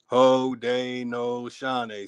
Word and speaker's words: Haudenosaunee: They're showing you how to properly pronounce the word. Haudenosaunee.